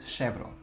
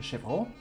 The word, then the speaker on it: chevreau: So, and this leather is called chevron. The word originates from French, from the French language, and in French it's probably chevron, something like that, and it means goat.